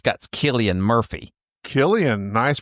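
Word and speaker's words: Cillian: Killian. Nice pronunciation.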